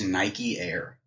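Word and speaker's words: Nykeair: His name is Nike Air. What? Like the fucking shoe. No. Nike Air. What? It's spelled N-Y-K-E-A-I-R.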